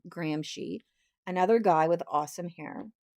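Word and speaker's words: Gramsci: Antonio Grahamshy, this is how you pronounce his name, Grahamshy, another guy with awesome hair.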